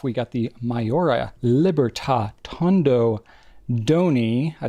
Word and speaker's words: Tondo Doni: I always want to say Dondo Tony. They sound so similar. It's like when you don't really know how to pronounce something, you're like, well, D and T sounds similar enough. I'll just say like Dondo Tony, and you won't really know which one I said which way.